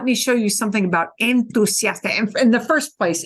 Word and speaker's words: entusiasta: Because we have enthusiastic and we have a th, but we don't have that in Spanish. We have entusiasta or entusiasta.